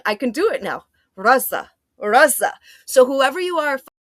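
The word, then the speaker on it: غزة: I struggle with I was saying Gaza, the way that the Western people try to like Arabize the word, even though they don't know Arabic, and they say Raza, and the way that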